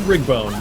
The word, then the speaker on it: Rigbone: And Rigbone, am I pronouncing that correctly? Rigby 1, I think, is what it's supposed to be, but maybe Rigbone? It's Rigbone. That makes much more sense.